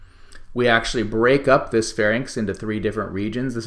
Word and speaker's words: pharynx: throat as the pharynx i think people need to show some caution and pronunciation of this one sometimes people mispronounce pharynx and larynx and when they do so they often end up misspelling them so it's inks in the end of this and we can see